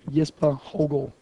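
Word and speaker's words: Jesper Hougaard: yes God yes it's yes for hogo going to try it's not that difficult but the thing is the the double A is pronounced as an O which is what kind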